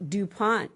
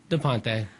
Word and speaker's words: De Ponte: Hello, this is Lynn Lassotovitch, and I'm here with Central Valley Talk, and I have DuPont. Well, I said it wrong. How do you say that again? Ponte.